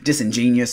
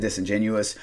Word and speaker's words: disingenuous: getting from this album he calls it disingenious instead of disingenuous it is what it